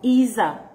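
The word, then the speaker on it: עֵזֶר: Ezer, you pronounce it Ezer, Ezer.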